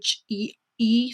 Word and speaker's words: Chee: so it's her, but her name is spelled Chee, so it's Che and then show.